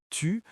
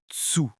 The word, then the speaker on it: tu: Par exemple, les Québécois ont tendance à prononcer les T et les D devant les voyelles I et U de manière différente.